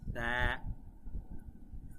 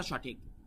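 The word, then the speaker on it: ث: এই সা এর উচ্চারণ হবে খুব পাতলা, এস এর মতো নয়, স এর মতো নয়, এটার উচ্চারণ হবে খুবই পাতলা। জিহ্বার একদম সামনের সাইড আপনার উপরের দাঁতের সাথে লাগবে।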